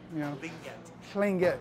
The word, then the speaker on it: Tlingit: It's called a bilateral lisp. Tlingit. So I'll teach you how to do it. I'm really good at this. Okay. You stick your tongue on the roof of your mouth, and you blow. That's the sound.